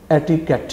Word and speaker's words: etiquette: बिल्कुल गलत होगा और इसका दुरुस्त तलफ्फुज़ या प्रोनंसिएशन एटिकेट है।